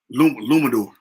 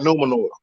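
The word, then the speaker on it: Númenor: Luminor. When they touch Numenor. You said it right, Numenor.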